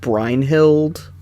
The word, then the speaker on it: Brynhildr: all of these I pronounce it brynhildr so that makes me happy what was the point of that because I know Leo in um in Heroes pronounces it brine hild and that bugs the